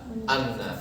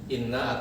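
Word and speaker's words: إنّ: Ingatlah gitu kira-kira nah apabila setelah alam lalu diikuti dengan Inna ya maka huruf hamzah yang ada pada Inna tidak boleh dibaca Anna jadi wajib dibaca Inna atau kasro hamzahnya Ingatlah ya Sesungguhnya wali-wali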